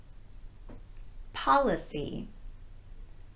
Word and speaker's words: policy: Policy, policy. This is the unrounded ah sound.